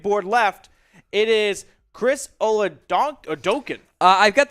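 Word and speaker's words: Oladokun: here south dakota state chris oludokin is how you pronounce that one this is a very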